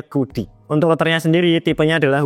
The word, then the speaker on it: CUDY: Tulisannya CUDY, tapi bacanya Kudi.